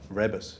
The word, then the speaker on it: Rebus: Rebus, he pronounces it.